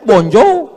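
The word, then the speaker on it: bonjour: Emangnya bahasa Perancis mudah tulisannya bon jowur. Bacanya bonjo, bon soir, bonsa.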